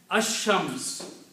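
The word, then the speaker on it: الشمس: Ash-Shams, al is not pronounced.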